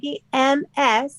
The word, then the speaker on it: Magee: And then McGee, everybody remember, is spelled MAGEE.